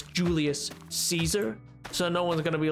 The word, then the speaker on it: Caesar: Because it's also Caesar also shouldn't be pronounced as a s noise. It should be Kaiser. But like no one's ever gonna change that. Like it's too ingrained in culture that it's Julius Caesar.